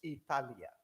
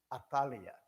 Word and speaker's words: Atalia: Y quiero que noten, no estoy mal pronunciando, no es Italia, es Atalia.